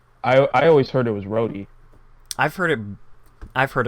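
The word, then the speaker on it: Rohde: up to imagine you're Joe Road is that how it's pronounced or is it rody I think it's really it's Joe Brody yeah rody okay wait you both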